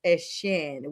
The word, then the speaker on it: Etienne: He is now going back to the Bayou State, and he is Etienne, which is how the French and Creole call it. He wants to be correctly pronounced.